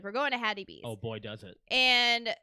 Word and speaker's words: Hattie B's: Hattie B's, yes.